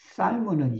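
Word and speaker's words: salmo: 우리가 이제 에스페란토로 발음을 잘해야 돼. 살모가 있고 샬모가 있어. 살모는 연어를 말해. 고기 생선이에요. 근데 샬모는 여러분 빨대예요, 이게.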